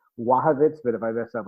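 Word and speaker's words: Błachowicz: I have always pronounced it Blachowicz, but he says it's Wachowicz.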